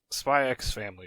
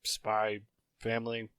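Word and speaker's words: Spy × Family: Spy X Family or Spy Family. Some people pronounce X's in anime titles. I'm going to.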